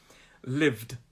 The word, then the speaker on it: lived: be the past participle lived and listened to that end of that pronunciation that that n sound it's a d sound lived lived so i